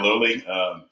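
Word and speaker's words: Loli: I've been pronouncing it Lolly, but yeah, Lowley.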